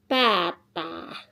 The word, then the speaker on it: pataa: Here I have sata sata sata sata jo joo on oon kukka kukka tilin tilin pata pataa And then mutta mutta mutta mutta muuta muuttaa